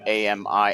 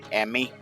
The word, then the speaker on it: Ami: Imagine it's pronounced a like a m i as in m i like ammy. Okay. Am I? So yeah that's okay. So it is ami.